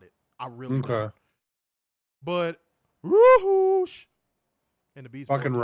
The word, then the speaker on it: Rush: We're in America. It's Rush. Well, he's from Mexico and it's Roosh.